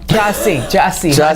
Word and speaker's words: Jussie: Okay, first of all, Jussie, Jussie. no paper trail. And have we been saying his name wrong all the time?